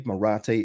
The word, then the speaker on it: Marathe: our chairman coming out parag morati gonna say his name properly Marathi is his name so I will make